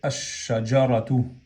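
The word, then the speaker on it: الشجرة: Entonces se fusiona la lam aquí y se dice ash-shajaratu.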